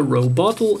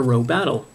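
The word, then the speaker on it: ロボトル: Because for some reason in Japanese it's a robottle and not a robattle.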